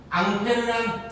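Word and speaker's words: Ampère: 앙페르란 사람 이름입니다. 앙페르 교수님의 이름을 따가지고 암페어라고 읽어요.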